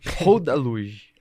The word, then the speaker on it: Rodaluge: Rodaluge. Eu falei certo? Falou certo.